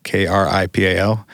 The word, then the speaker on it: Kripal: In the movie, there's an interview with a guy named Jeffrey Kripal, Kripal. That's pronounced cripple, Spencer.